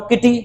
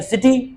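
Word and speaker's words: city: ही पढ़ रहा हूं किटी तो तुम कह रहे नहीं सिटी फिर मैं इसको पढ़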